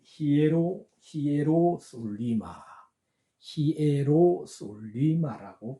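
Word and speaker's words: Ἱεροσόλυμα: 보면 스트록 넘버 214번 요렇게 적혀 있습니다 요것을 발음을 히에로 히에로 솔리마 히에로 솔리마 아고 발음을 합니다 아 그리고 두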